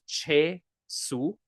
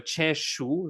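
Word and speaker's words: છે શું: Now, the name of the story we're going to do is Che Su, or rather Che Shu, if we pronounce it properly. Che Shu, or in more casual language, Che Su.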